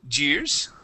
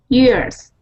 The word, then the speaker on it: years: the word years okay now with that Y at the beginning you you pronounced a Spanish y saying Jers okay um with the Y we say y years try that years there you go good